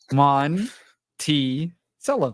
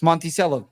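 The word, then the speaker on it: Monticello: to say anything no it's Monty cell that's how you pronounce the way it's spelled monello all right I'm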